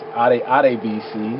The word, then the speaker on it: Adebisi: Traditionally, the name is pronounced Adebisi. That's Ade, not Ade.